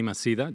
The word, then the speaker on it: Maceda: Manny Maceda, you pronounce in English.